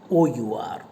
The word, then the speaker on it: hour: The word HO, in the word HOUR, you know, H is silent. The sound that you hear is R, OUR.